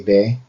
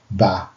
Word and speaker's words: به: of Iranian friends and they actually pronounce it be instead of ba. But sometimes I catch myself like that too. So pardon me. But for in Dari, it's ba, not be.